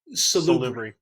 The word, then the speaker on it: Salubri: So how do you pronounce the last one? Salubri.